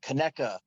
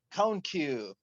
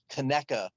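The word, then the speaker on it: Conecuh: it's spelled c-o-n-e-c-u-h huh and at first i was like oh cone cone-q ridge whisk yeah that's cool whatever and then i'm like that's gotta be wrong and i looked up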